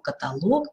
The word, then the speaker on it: каталог: акцентирую внимание на этом называющие неодушевленные предметы имеют ударение на последнем слоге эпилог каталог некролог но всегда есть исключения